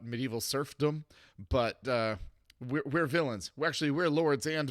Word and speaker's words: Villeins: series called Lords and villains it's pronounced the same but it's spelled differently because they're not bad